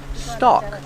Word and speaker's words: stalk: a stalk of corn remember with stock the L is silent stock this is a corn